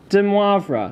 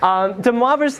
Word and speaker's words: de Moivre: And she told me, de, that's the easy part, moi, like as in me, and then, well, the way it's spelled, vr, okay? Not de Moivre, like he's not Spanish, okay?